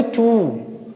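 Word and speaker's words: two: यहाँ क्या बोलेंगे, टू, ठीक है। बहुत बच्चे इसको टू प्रोनाउंस करते हैं, प्रोनाउंसिएट। ये ट्यू नहीं है, ये टू है, टू, ठीक है।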